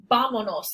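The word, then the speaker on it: vámonos: vamanos has an accent without the accent this word would be pronounced with the stress of the voice here bonos but that's not how it's pronounced it's pronounced vamonos and that's why the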